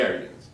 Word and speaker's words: Aryans: And this new group specifically I'm referring to now is called the Aryans.